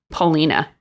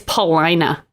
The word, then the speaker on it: Paulina: it's devon okay and it's not paulina it's paulina rhymes with orangina it's true that's not